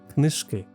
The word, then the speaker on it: книжки: One feature I really like is that it shows stress shifts when a word form changes, which is super helpful for correct pronunciation, as in the example of the word книжка, книжки.